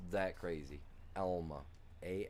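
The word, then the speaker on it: Alma: It's a different Elma, which don't get me wrong, I don't know why they didn't never spell E L M A because that is how it's pronounced.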